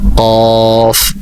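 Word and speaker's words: كاف: এর পরবর্তী অক্ষর যেটা, সেটা হচ্ছে কফ। কফের উপর, কফের আর কাফে ফায়ের মাথা একই, শুধুমাত্র নক্তার বেশ কম। ফায়ের মধ্যে এক নক্তা এবং কফের উপর 2 নক্তা।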